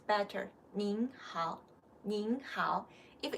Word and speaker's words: 您: 您, the pronunciation is with an N.